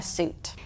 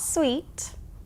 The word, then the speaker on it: suit: as the noun a suit the meaning and how we use it are different but the spelling and pronunciation are the same not sweet suit let's look at the